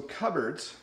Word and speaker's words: cupboards: So cupboards, notice it's not pronounced the way it looks.